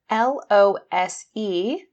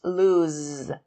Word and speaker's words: lose: L-O-S-E is pronounced lose, z with a Z sound, lose.